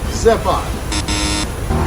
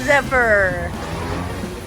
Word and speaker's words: Zephyr: therefore we are you try it zip on and the correct answer is Zephyr say what give up polygon ikkaku this is pronounced polydimethylsiloxane say alright so some of the